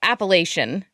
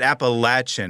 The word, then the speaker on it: Appalachian: So it's not really a wrong way. No. We just there's just several ways to say it. Appalachian, Well, I've heard it's too.